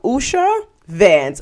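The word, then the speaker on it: Usha Vance: thing and that was Usha Usha Vans Usha van that's how you pronounce her name and her outfits and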